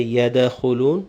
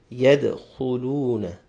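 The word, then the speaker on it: يدخلون: yet the who luna the doll will have a slight echo no coca-cola yet not too much that is sound like a zebra or Fatah so we shouldn't say yeah the who loon but yet yet yet who Luna thereafter fee the needle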